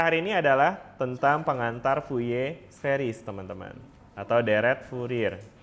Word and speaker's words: Fourier: Jadi at least teman-teman bisa enggak jelasin apa sih deret Fuye itu? Enggak nyambung. Fuye series. En ini dibacanya Fuye meskipun tulisannya fir karena kalau enggak salah dia orang Prancis deh. Makanya dibacanya fuye.